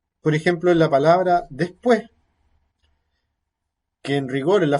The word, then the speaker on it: después: Es muy común, por ejemplo, que cuando va en final de enunciado, cuando uno dice la palabra después, esta que no está en el final, sino que está en medio de la palabra, se aspira, pero la última se pierde, no se dice.